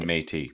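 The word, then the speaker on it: Métis: Inuit and matei.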